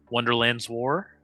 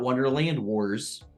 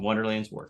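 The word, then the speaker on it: Wonderland's War: wonderlands War so yep not Wonderland Wars wars wonder he said it right the first time wonderlands War fantastic did you say it right the first time or did you say it wrong the first time now I can't remember I I it is wonderlands war that's what I thought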